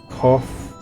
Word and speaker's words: Kof: As for nomenclature, to address my individual person, I believe it would be pronounced Kof.